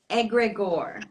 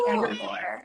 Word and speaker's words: egregore: Talk a little bit about the term egregore. Yes. Am I pronouncing it properly? Yes, yes. I love the egregore.